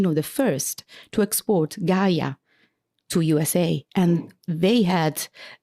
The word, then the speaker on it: Gaja: They don't even know how to pronunciate Gaia. It was Gaja. What's Gaja? What the hell is Gaja?